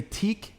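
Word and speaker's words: TEAC: to me i know so that is a teak t-e-a-c i pronounce it teak i'm pretty sure it's teak i've been saying it that way my whole life high-end audio equipment vintage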